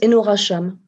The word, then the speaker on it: Enora Chame: identité mais est-ce que je les ai bien prononcé sa cependant ce enora cham tout simplement je pense que bon et ben